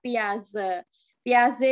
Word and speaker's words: Piaget: ya kalau duluan Oh tulisannya Piaget dibaca Piaget nah Piaget dibaca biasa-biasa disini menyatakan bahwa ada